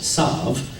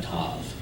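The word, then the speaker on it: ת: One letter, the Tav. Ashkenazics pronounce it as a S, Sav, and Sephardic pronounces it as a Tav. In modern Hebrew in Israel, they use the Sephardic pronunciation, so it's a Tav.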